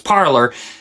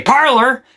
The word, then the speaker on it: Parler: Now, before you start criticizing me saying it's Parler, it was originally meant to be in Francais. The name was meant to be pronounced en français.